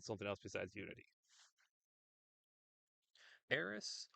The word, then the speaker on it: Aerith: Aerith or Aerith? It's Aerith. I don't know where people have gotten Aerith from. It makes no sense to me. It's always been Aerith.